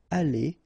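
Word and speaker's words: allées: The good thing as usual in French is you will pronounce it ali, ali, ali, and ali. So technically you don't pronounce the final uh you don't pronounce the final s and you don't pronounce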